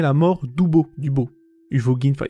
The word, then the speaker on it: Uvogin: mort d'ouo du beau huvogin enfin il y a un V mais ça se prononce comme un B donc hubo on va dire voilà